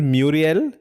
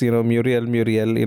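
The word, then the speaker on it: Murielle: But I think the pronunciation is Muriel. Okay. I think it's, Muriel, like Chandler Bing's middle name.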